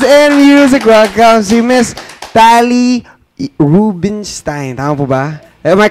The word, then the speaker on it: Tali Rubinstein: Welcome to Miss TALI RUBINSTEIN. Tama po ba? Am I correct? Did I pronounce it right?